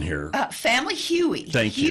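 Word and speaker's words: hui: Family Huey. Thank you. Huey is a Hawaiian word meaning to come together.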